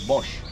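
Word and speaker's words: box: in my own language b b o x but the pronunciation is Bosch so he's a Bosch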